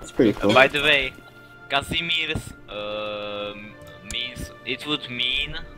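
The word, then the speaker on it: Casimir: you pronounce his name is it Casmir like I like like correct like that pronounce that name Che he's my air how do you pronounce his name what the is that kind of name kazimir kazimir that's that's po that's a Polish name yes kazimir so that's how you pronounce them all rights okay I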